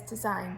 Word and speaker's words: design: we've got number four which is design so think about carefully about which letter we don't really hear on that okay so again it's the well it's the g and this word but